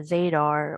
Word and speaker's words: Zadar: aol instant messenger um my maiden name zadar would rhyme with zebra radar and i had a radar